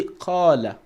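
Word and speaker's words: قال: Then you say qala. You pronounce an alif mad after the qaf.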